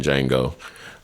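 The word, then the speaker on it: Django: than Steven was in D Jango uh is silent uh or that big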